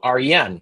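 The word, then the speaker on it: Wren: And I was like, "Oh, that's kind of cool, but isn't it like WN? There's like a silent W. I'm not going to have a silent W at my fir in my firm name."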